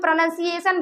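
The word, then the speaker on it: pronunciation: नहीं वहां पे ओ होता लेकिन हम लोग प्रोनंसिएशन बोलते हैं।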